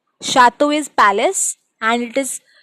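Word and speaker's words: château: Another example, chateau. Chateau is palace, and it is sounding like sh. Ch is sounding like sh.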